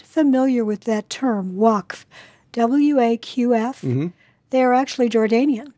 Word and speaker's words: Waqf: going on between the Waqf and the Israeli police. Is that how you pronounce it? W-A-Q-F? Waqf. Yeah.